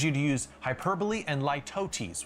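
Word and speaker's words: litotes: I'd also encourage you to use hyperbole and lootesis, which I always want to read as lototes, but that's not how you say it.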